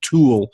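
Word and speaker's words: Thule: pronounce that correctly or somebody who who speaks German would probably have a better grasp on how the name is pronounced but say like toward tool it may be problems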